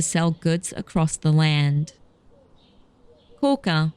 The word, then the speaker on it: Koka: Koka, also commonly pronounced Koga, is a rural city not far from Kyoto.